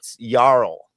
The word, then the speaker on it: Jarl: So Spin, just to correct you, there's no J sound in Scandinavian. So the J sound is something else. We don't have a Y character. So the J is pronounced ya. So that's Yeah. why you get that yip Jarl. and Yemenis. Yeah. It's Jarl.